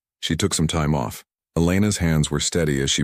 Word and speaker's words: Elena: Elena. He tested the name, noting the slight emphasis she placed on the second syllable.